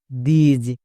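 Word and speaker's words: this: দিজ। কারণ এখানেও আই এস আছে। টি এইচ এর জন্য দো এবং আই এস এর জন্য ইজ। তাহলে দো প্লাস ইজ দিজ। একে আমরা দিস এরকম উচ্চারণ করবো না।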